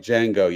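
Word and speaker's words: Django: Jango like d Jango the D is silent The The J no the de asy the Dey yes like Jango yes in the movie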